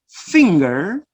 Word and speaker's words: finger: But in the second word, finger, so you have ng, all right?